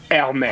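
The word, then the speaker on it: Hermès: So you've got to remember that the French don't pronounce H's. So it's basically just Hermes.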